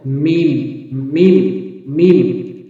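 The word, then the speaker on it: ميم: দাঁতের মারির সঙ্গে এভাবে লাগাতে হবে লাম হরফটি উচ্চারণ করতে এরপর আসুন মিম মিম হরফটি ঠোঁটের বহির্ভার যুক্ত করুন যেমন মিম মিম মিম দুই ঠোঁটের শূন্য অংশ যেটাকে বলা হয় মিম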